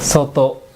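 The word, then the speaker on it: 外: তারপরে তো দিছে, জুতো সোতো। সুতো। এই সোতো মানে বাহিরে, আর এটা হচ্ছে যে এই গায়ে মানেও বাইরে, মানে এটার উচ্চারণ দুইটা, সোতো অথবা গাই।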